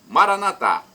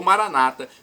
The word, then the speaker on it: Maranata: clamo: vinde, Senhor Jesus, Maranatá, como dizemos nós católicos, ou Maranata, como dizem nossos irmãos separados, os evangélicos ou protestantes. Não importa a pronúncia, porque o significado é o mesmo.